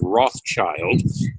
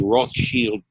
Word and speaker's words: Rothschild: or Jacob Rothschild whose family name is usually mispronounced as Rothschild but was in fact derived from the german word russia which means red shield who has withdrawn virtually all the resources of the roth shield banking combine out of the united states one